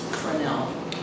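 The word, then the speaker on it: Fresnel: Now 0.1 karat beacon was automated in 1970 and the fourth order frenel lens and it is pronounced frenel.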